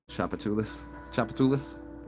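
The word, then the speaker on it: Tchoupitoulas: Well, it's spelled different. It's spelled TCHOUP. Everybody kind of they don't say the whole name because it's like this long. Chapatulis.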